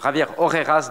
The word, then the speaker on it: Javier Orejas: Il faut le prononcer, Javier Orejas de IATA.